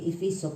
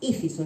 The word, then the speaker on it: Éfeso: Éfeso, a veces hay quienes lo dicen mal, dice Efeso, pero no, es Éfeso, lleva tilde en la E, Éfeso.